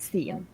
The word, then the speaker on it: scene: It's pronounced not "san" but "scene."